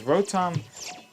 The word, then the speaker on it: Rotom: I don't even know how to pronounce it, because Rotom is pronounced with a hard T.